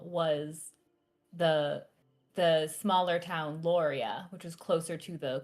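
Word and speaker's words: Loria: And then there's Lauria, which is the smaller town. It's near the quarry, but quickly accessible. How do you spell that? The smaller Lauria, L O R I A.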